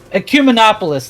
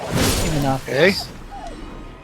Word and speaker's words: Ecumenopolis: Ecumenopolis, that's how you pronounce it. Ecumenopolis.